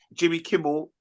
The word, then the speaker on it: Jimmy Kimmel: Jimmy Kimmel.